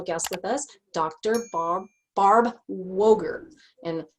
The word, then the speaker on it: Woegerer: with us dr barb woger and she has an er at the end of her name and you want to pronounce that but you don't it's just woker so when you're looking